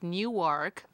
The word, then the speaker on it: Newark: are telling me well how do you pronounce it it's Newark but you're from Nork you're you have to say norc Newark yes of course so